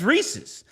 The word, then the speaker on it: Reese's: And I was like, they were like, "Pronounce this like Reese's Pieces." Points to the word pieces and goes, "That's a real word. It's pieces." And it wouldn't rhyme unless it's Reese's.